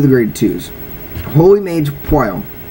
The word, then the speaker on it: Pwyll: grade twos holy Mage P I know the name is really weird it's spelled PW y l l but it's p now he he's your